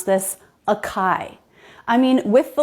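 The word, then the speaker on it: açaí: This one is written with stress on the last syllable. It's acai, not acai.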